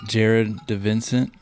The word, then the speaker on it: Jared DiVincent: Today I am in Brunswick, Georgia at On the Fly Outfitters, joined by Jared DiVincent.